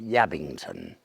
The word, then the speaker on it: Ebrington: me in the little village spelt ebrington but I'm told pronounced yabt we're right up in